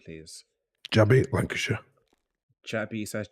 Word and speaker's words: Lancashire: Jabby, Lancashire. Jabby. So that's Jabbi or what? No. Yeah, Jabby. Yep. Lancashire, like the county.